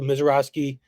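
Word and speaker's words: Misiorowski: Is that how you pronounce it? Yeah, and me and Ben are with you on that. Jacob Mizrakowski.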